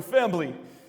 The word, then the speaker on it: Fambly: They call it Fambly, with a B, because that's how Vin Diesel pronounces it. We're Fambly.